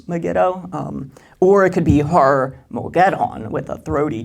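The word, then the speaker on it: Har-Magedon: of my throat, but the G is supposed to be a very throaty G sound, but it's Har-Mogeddon, and in Eschatology 201, we talked about this in Zechariah chapters 12 through 14.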